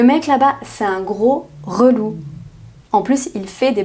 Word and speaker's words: relou: Ensuite, relou. Relou. Inversion de syllabe, c'est le mot lourd.